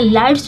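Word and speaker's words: lights: पे साइलेंट है देखिए लाइट्स जो है यह लाइट में आप देखेंगे कि टी के पहले जी एच जहां पर भी दिखे आपको वो साइलेंट रहता है तो उसका प्रोनंसिएशन नहीं होता उसको लाइट पते द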